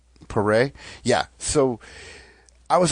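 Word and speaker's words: Paré: name uh P what what is it Michael paray paray yeah so I was like I don't remember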